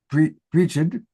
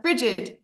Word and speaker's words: Bridget: I don't know if you pronounce it Brigid. It's Bridget. Bridget.